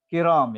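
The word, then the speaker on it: كِرَام: Nah itu kiram ya, jama dari karim.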